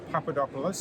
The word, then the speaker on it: Papadopoulos: I'm joined by Frank Papadopoulos, I pronounced that okay?